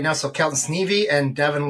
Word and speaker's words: Sneve: So Kelton Sneve and Devin Lose.